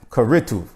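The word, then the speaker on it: כריתות: The next word for divorce is karatu. Karatu. It's spelled kaf resh yud tav vav tav.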